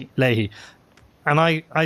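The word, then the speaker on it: Leahy: prepare for an interview with Connor do you pronounce it Ley uh Ley Ley and I I say and I put in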